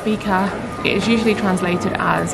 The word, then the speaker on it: fika: Pronounced fika, it is usually translated as a coffee and cake break, but although this is partially correct, it's much more than that.